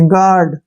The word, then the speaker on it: guard: बीच यू आया है, जी और वावल के बीच यू आता है तो इसको छोड़ देती है।